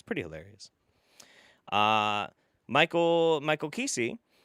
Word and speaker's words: Kesey: Michael Kesey, thanks for saying my name right. Most say Michul.